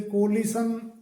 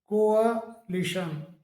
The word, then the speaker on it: coalition: इसी प्रकार से अगला वर्ड है COALITION, इसे कोलिशन बोल दिया जाता है, कोलिशन करके, जबकि इसका सही जो प्रोनाउंसिएशन होता है वो कोअलिशन, कोअलिशन।